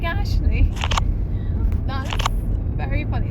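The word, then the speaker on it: Aisling: Ashley it does not look like spells like Ashley that's very funny like it's spelled a i s l i n g now I thought that was pronounced aeling and that's how I've been pronouncing it but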